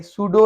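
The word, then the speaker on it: pseudo: साम है तो ये साम जैसे कोई नज़म वगैरह होते हैं, उसका ये पी साइलेंट है। सूडो है जो हकीकी ना हो, शेम हो, झूठा हो, रियल ना हो, उसको ये सूडो है, पी साइलेंट है।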